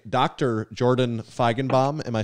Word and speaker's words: Feigenbaum: guys and uh i should say dr jordan feigenbaum am i saying your last name correctly or am i mispronouncing it no i think you crushed it